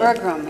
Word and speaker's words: Berglund: Is that how you pronounce his name? Berglund, yeah.